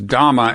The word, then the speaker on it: dhamma: pronouncing as dharma the word that you earlier pronounced as dhamma and in an exclusively um buddhist context right